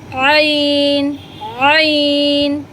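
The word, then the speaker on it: ع: এই আইন উচ্চারণটা গলার ভেতর থেকে উচ্চারণ হবে, ঠিক মাঝখান থেকে আপনারা একটি আঙ্গুল দিয়ে গলার মাঝখানে সামান্য একটু চাপ দিয়ে এই আইনটা উচ্চারণ করবেন। আমি আবারও বলছি, আইন, আইন, কইন।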